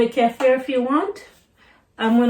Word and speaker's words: kefir: So this is the non-dairy kefir. There's several ways to pronounce it.